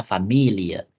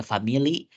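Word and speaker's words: Familie: biasa gitu ya oke famil itu bacanya familia nah kecuali kata ini teman-teman kita gak bisa baca dia Family karena Family itu English dalam bahasa Inggris agar bisa membedakan dia dalamah Jerman itu pelafalannya lebih sedikit cenderung ada e-nya di belakang familia familia dalam bahasa Jerman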